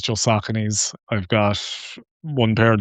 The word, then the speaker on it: Saucony: yeah, I think Saucony was again, I only learned that as well. I used to call them Sauconys, but yeah, Yeah, no, Saucony. But yes, I don't use anything else. It's just Sauconys.